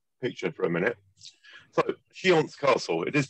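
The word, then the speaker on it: Książ: to the uh picture for a minute so shance Castle it is pronounced shance although it's PR spelled KS I a z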